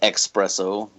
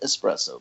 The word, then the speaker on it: espresso: you can tell that it's not not pronounced expresso because there's no X in the spelling yeah but how often